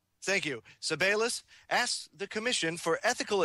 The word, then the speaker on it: Sebelius: Sebelius. Thank you. Sebelius asks the Commission for ethical advice on the development of medical countermeasures for children.